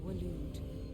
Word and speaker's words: Waloed: The Kingdom of Waloed. Waloed, that's how you pronounce that.